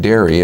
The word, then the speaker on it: Derry: in northern ireland in the city that's called dairy if you look on the map it's spelled london dairy but i came to